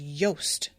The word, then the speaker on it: Jost: Dawes had pronounced Jost as Yost, but seeing it spelled on the page, there was no mistaking it.